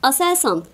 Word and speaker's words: ASELSAN: Aselsan diye okuyabiliyorum bunu. Askeri elektronik sanayi tabii ki bu. Ama bunu bilmene gerek yok. Kuruluşu da birazcık farklı çünkü. Aselsan diye okuyabiliyorsam ASELSAN dememe gerek yok.